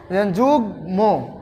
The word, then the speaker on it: যুগ্ম: মানে কোন ধরনের পরিবর্তন হবে না ম এর উচ্চারণটা হবে যোগ ম এখানে গ এর সাথে মন্ যুক্ত আবার এখানে